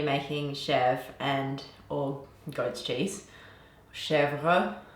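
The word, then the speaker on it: Chèvre: With today's milk, I'm going to be making Chevre or goat's cheese, Chevre, if you want to pronounce it in French.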